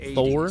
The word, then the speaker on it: Thor: They can be Odin, but not Thor. Called Old Gods of Asgard. It's Tor.